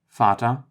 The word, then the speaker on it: Vater: The V, or V, is pronounced like an F in German. Vater, which is father, and Vogel, which is bird.